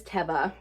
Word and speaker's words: Teva: I am officially conforming to Teva as the pronunciation for this brand because I think it was Mackenzie over at McThriftsy said that she saw a commercial where they pronounced it that way. So we stand corrected. It is not Teva, it is Teva.